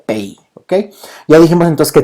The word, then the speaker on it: pays: Países se pronuncia como pays, ok, se escribe como país, pero se pronuncia pays, ok.